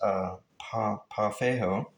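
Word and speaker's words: pau ferro: This wood, I hope it didn't cut off my audio, is pronounced pafejo.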